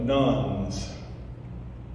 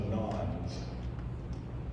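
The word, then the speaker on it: nones: These are what sociologists are calling the nuns, or some people pronounce it the nons, and you can spell it N-O-N-S or N-O-N-E-S.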